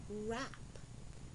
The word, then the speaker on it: wrap: Wrap, R, A, P, wrap.